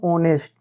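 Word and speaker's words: honest: इस सिचुएशन में बच्चों हम क्या करेंगे एच का उच्चारण नहीं करेंगे तो यहां देखिए क्या हो जाएगा बच्चों ऑनेस्ट तो बच्चों ये सबसे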